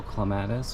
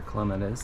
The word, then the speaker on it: clematis: Oh, and there is a interesting little clematis or clematis, depends on how you say it.